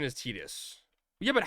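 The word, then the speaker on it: Tidus: I had the actual VA say the correct pronunciation is Tedus. Yeah, but how would he know? He never had to say it. It's pronounced tetus.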